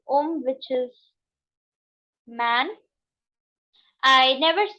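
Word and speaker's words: homme: And when the H is mute, we never ever ever pronounce this word. For example, when I say Om, which is man, I never say Hom. I said Om.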